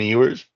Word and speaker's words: Ewers: they have a pretty reliable replacement for Quinn Ewers. Was that his name? Yeah, yours. Did I pronounce it right at Yours.